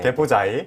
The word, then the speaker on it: 개포자이: 그 강남 개포 자꾸 발음을 굴리지 말고요. 네. 네, 똑바로 하시면 됩니다. 네. 개포자이. 개포자이.